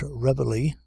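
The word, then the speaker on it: reveille: place our morning march as nobody pronounces this word a la francais as everybody calls it rebelly why not drop it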